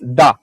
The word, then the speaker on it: da: So that's why, for example, our yes, it's pronounced da, exactly like the Russians do in their language, because the Slavs lived